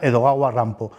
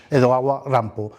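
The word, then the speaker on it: Edogawa Rampo: eroguro nans sensu sería edoga rampo cuyo nombre en realidad un seudónimo es la forma en la que los japoneses pronuncian precisamente Edgar alano edaga rampo este autor considerado el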